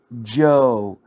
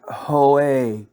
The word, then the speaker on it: Joe: pronounce it and my husband's name is joe not hoe earlier today the white